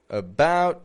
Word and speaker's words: about: here about to arrive well we know that the out and about okay we know that's not awah but the a is uh about two okay we're